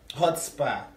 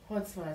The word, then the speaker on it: chutzpah: Hotspa. Spell it. Hotspa. C-H-U-T-Z-P-A-H. Hotspa. How is it C-H hotspa? The C is silent.